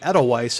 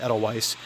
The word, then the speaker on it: Edelweiss: Now, according to the Ether Vapor website about the developers, Doujin developer group Edelweiss, I believe that's how it's pronounced, Edelweiss, but they've been active